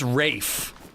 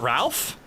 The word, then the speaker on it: Ralph: It's pronounced Rafe. Not Ralph.